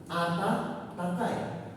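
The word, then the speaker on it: あたたかい: Contohnya yang lain itu adalah Ata-takai. Kakak. Hai, Ata-takai. Ayo coba dibaca lagi penasaran. Kakak. Hai, Ata-takai. Sedikit susah bacanya, tapi buat gampangannya kalian sebut Ata dulu baru takai. Jadi Ata-takai.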